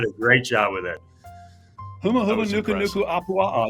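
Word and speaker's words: humuhumunukunukuāpuaʻa: I'm going to give him credit, but I don't think he can pronounce that ever again. You did a great job with it. Huma Huma Nuku Nuku Apua'a.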